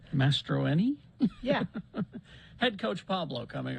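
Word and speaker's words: Mastroeni: to the coach uh head coach pablo uh maestro boy i'm gonna have to learn how to say his last name mastroini yeah head coach pablo coming up from our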